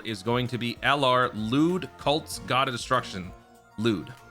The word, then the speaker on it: Luud: By the way, it is Luud. I haven't seen uh GT in a while, but I was looking it up and it is Luud cuz it says Ruudo. That's how they say it in Japanese.